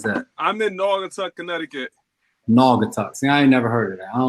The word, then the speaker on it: Naugatuck: where Connecticut is that I'm in northern Connecticut Naugatuck see I never heard it yeah see you